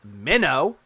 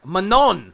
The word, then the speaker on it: Manon: pronounces Dam as dsim he pronounces Manon as minnow I'm sorry it doesn't look like a minnow Phil it's Manon please clap Manon Phil